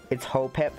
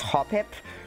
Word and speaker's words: Hoppip: I know it's Hopip. I know it's spelled it's pronounced Hopip, but I'm gonna read it how it's like spelled.